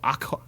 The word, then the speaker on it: Aaqa: as the realm of Aqua, AAQA, I don't fucking know, where a small city... AAQA, Aqua, but it's not got a U, so it's like kind of like Aqua. You still pronounce it aqua.